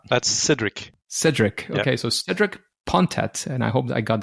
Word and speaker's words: Cédric Pontet: Okay, so Cedric Pontet, and I hope I got that decently. Yeah. My pronunciation is not if you want the French accent, it's Cedric Pontet.